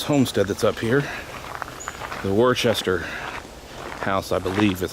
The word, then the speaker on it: Worcester: Now, the Worcester house, please let me know how it's actually pronounced if people know, is over that way.